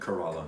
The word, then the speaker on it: Kerala: Kerala.